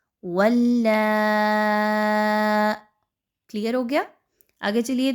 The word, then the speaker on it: ولا: واو لام زبر ول۔ آگے دیکھیے تو لام کے اوپر کیا ہے؟ بڑی مد اور ساتھ میں کھڑا زبر، تو کیسے اس کے ہجے کیے جائیں گے؟ لام مد کھڑی زبر لا، ولا۔ کلیئر ہو گیا؟